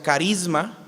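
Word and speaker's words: χάρισμα: De hecho, la palabra don en el griego se pronuncia carisma, de donde viene la palabra carismático.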